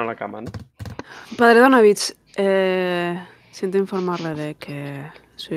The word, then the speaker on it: Donavich: ¿Donavich o Donavic? Yo estoy diciendo Donavic. Todos los que habéis oído pronunciarlo hasta ahora lo han pronunciado Donavich. Vale, Donavich.